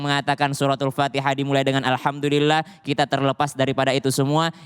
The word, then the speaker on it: Alhamdulillah: membacanya aja alhamdulillahirobbilalamin oke Alhamdulillah pakai huruf Alhamdulillah itu menggunakan huruf H jadi jangan baca alhamdulillah di huruf Indonesia Ha itu cuman satu